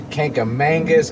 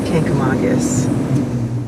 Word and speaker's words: Kancamagus: gonna go take well it's been mispronounced a lot the kankamangas kinkamegas kankamagas it's kankamagus she says that now